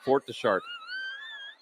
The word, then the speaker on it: Fort de Chartres: Fort Deschartres.